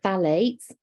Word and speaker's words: phthalates: lives we've also got the phthalates it's a very very bizarre set of chemicals because you don't pronounce the pH um they're also hormone